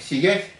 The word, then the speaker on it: СиЯть: Читается именно как «сиять»? «Сиять». Буква «ять». Здорово.